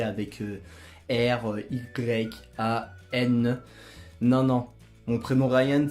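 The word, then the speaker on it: Rayan: Je m'appelle Ryan, et non, pour la plupart des personnes qui vont me dire que mon prénom Ryan s'écrit avec R-Y-A-N.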